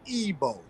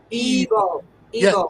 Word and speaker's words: Igbo: that I has a e sounding so it's EO EO e EO yeah so the colonizers Twisted it